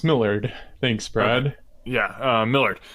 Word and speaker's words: Millard: That's Millard. Millard? What? Yeah, it's pronounced Millard.